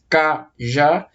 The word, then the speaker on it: cajá: É uma palavra que eu divido em 2 sílabas, cajá. E a sílaba mais forte é a última.